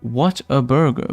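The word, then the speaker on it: Whataburger: keep looking at it it's pronounced what a burger but I call it Water Burger okay I've never heard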